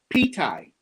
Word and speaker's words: Ptie: the color of it how do you spell that uh p-t-i-e ptie pitai okay because I at first I thought it was like p-e-a-t-h-a-i like it's you know Thai food but with peas okay there's that's what the